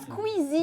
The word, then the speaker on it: Squeezie: Ah, Squeezie. Bien prononcé déjà.